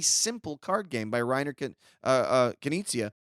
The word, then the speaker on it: Knizia: Is it Rainer Yeah, Knizia is Knizia.